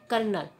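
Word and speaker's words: colonel: उदाहरण पर चलते हैं कर्नल यह विद्यार्थियों कर्नल की स्पेलिंग है सी ओ एल ओ एन तेल यहां आर की ध्वनि कहीं भी अंकित नहीं है जबकि ध्वनि आ रही है कल लगी तो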